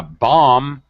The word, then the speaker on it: bomb: yes in here a bomb we do not pronounce the second B how however in this